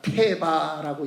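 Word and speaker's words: תֵּבָה: 방주를 똑같은 히브리 단어로 읽습니다. 테바라고 읽습니다. 갈대 상자도 똑같이 읽습니다. 테바.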